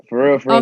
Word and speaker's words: Kalan.Frfr: For real, for real.